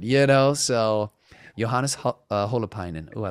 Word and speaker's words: Holopainen: say it and then there's the way you would say it like more in finnish and i'm always like well should i try to give like the finnish accent which could sound funny or do i kind of say it you know more like american but then it's like then it's butchered you know so johannes